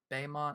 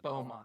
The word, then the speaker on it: Beaumont: the headstone for carl baymont i don't know how you're pronouncing that beaumont right right the headstone for